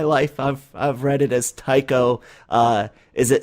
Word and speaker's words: Tycho: and I'm glad that I had the proper pronunciation of Tycho, because I've heard people pronounce the CH as a cho instead, and I've like, no, all my life I've read it as Tycho.